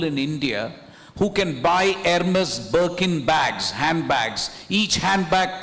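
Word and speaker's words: Hermès: So so I was doing that when I also met the CEO of Hermes pronounced Hermes and Hermes by people in Delhi it's Hermes. So anyway, I I talked to that guy and I said, "Why aren't you in India?"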